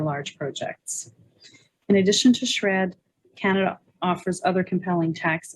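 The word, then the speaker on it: SR&ED: and experimental development program well known by its acronym pronounced shred is among the world's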